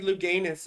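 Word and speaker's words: Louganis: It's like Greg Luganis over here, right? Accent on the anus.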